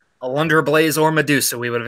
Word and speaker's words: Alundra Blayze: of WCW nitro uh-oh I don't think you pronounce their name correctly would think with a Lunger of blaze alundra blayze or Medusa we would have accepted either one